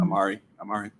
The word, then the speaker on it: Omari: And Omari Hardwick. Is that how you Yes. pronounce his name? Mhm. Amari.